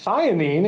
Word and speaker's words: methionine: letters might be Amanda meth methionine is how you say it and you're absolutely right